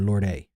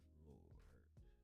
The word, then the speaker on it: Lorde: In British English, it is said as Lord. Lord. In American English, it is usually said as Lord. Lord. I did listen to all that just to hear Lord.